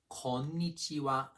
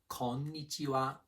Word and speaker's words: konnichiwa: First one, konnichiwa, means hello or hi. 5 beats, 2 N's, say them distinctly. Konnichiwa, konnichiwa. Japanese words often start low and then finish high.